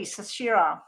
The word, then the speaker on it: Sashira: Oh, so I'm saying it correctly, Sashira. It reminds me of that singer that talks about her hips don't lie or something. Shakira. That just came to me. Yes, Sashira, it's similar.